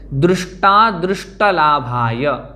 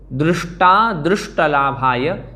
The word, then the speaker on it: दृष्टा दृष्टलाभाय: दृष्टा दृष्टलाभाय, दृष्टा दृष्टलाभाय, इस प्रकार से हम पढ़ें तो एकदम सही उच्चारण होगा।